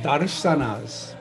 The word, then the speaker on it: darshanas: Six orthodox Indian darshanas. Darshans. The S is pronounced as an H, S-H, the first S in darshan, darshanas.